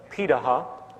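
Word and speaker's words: Pirahã: hunter-gatherer societies around the world such as the pitaha which is how it's pronunciated out of brazil amazingly it appears that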